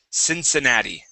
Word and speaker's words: Cincinnati: Cincinnati this is the name of a city Cincinnati Cincinnati okay uh hit that D sound at